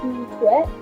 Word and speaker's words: du tout: Don't pronounce the T at the end.